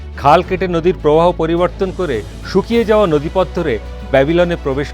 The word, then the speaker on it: সাইরাস: সাইরাস দ গ্রেটের আসল নাম ছিল কুরুশ যা গ্রিক বা পাশ্চাত্যের পন্ডিতের উচ্চারণে হয়ে ওঠে সাইরাস।